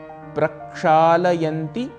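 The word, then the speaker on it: प्रक्षालयन्ति: अंती अर्थात धोते हैं प्रक्षाल यंती यह इसका शुद्ध उच्चारण है मित्रों यदि आप सच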